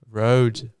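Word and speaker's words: Rode: But how you pronounce it in Australian actually? That's I just know it as Road. Road.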